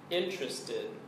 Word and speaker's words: interested: here's another word interested this word is also three syllables and the stress is on the first syllable interested interested here's the definition if